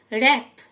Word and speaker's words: wrap: র্যাপ, WRAP র্যাপ মানে জড়ানো, W silent.